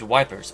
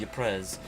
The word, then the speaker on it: Ypres: Ypres, a town in ruin. Dubbed Wipers by British troops due to its difficult pronunciation, Belgian troop of Ypres was a key strategic